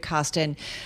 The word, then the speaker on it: Kostin: David Kostin is brilliant. His name almost rhymes with David Bahnsen, and I've been saying this for several years.